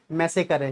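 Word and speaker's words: massacre: देखो ये इसको ना प्रोनाउंस नहीं कर पाते बच्चे, ये मैसेकर है, क्या है, मैसेकर, जिसको हत्याकांड बोलते हैं।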